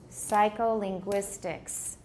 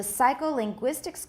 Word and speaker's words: psycholinguistics: Psycholinguistics. Which one sounds like it has more stress? The first or the fourth syllable? The fourth, right?